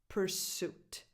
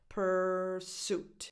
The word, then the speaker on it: pursuit: Pursuit. The stress is on the second syllable. Pursuit. So the first vowel has no real definition because the syllable is unstressed.